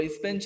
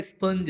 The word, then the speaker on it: sponge: होता है मोटा सा, वो स्पेंच नहीं होता, वो एक्चुअल वर्ड क्या है, स्पंज है। कभी आपने फोकस ही नहीं किया होगा कि हम इंग्लिश बोल रहे हैं और वो क्या है वर्ड, इसकी स्पेलिंग क्या है, ठीक है। तो ये स्पंज है एक्चुअल, SPONGE, स्पंज।